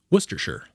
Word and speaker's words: Worcestershire: how you pronounce it you say the name of the second biggest city in massachusetts worcester and then you pretend somebody just asked you if you'd like a